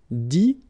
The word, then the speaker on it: dit: Dire, ire as well, will give you dit, same thing here, it, but then you pronounce it i, okay.